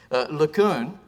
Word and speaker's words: LeCun: LeCun, which, and I know I have to either nasal or not nasal it, depending on whether it's, I do the full Breton pronunciation because he's from Brittany, is roughly derived from LeCunf, which means nice guy.